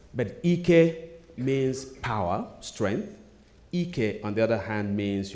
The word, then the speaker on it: Ike: His name is Ike, not Ike. Can you hear the difference? Ike instead of Ike. Who hears the difference? Okay, same spelling, but Ike means power, strength. Ike, on the other hand, means your ass.